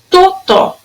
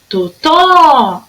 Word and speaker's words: Totó: Totó. Totó. A sílaba mais forte era o tó.